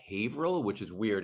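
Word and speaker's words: Haverhill: it's it's actually pronounced havil which is weird it's well it's a Massachusetts thing it's like none of the towns are pronounced as their as they're spelled out so it's like it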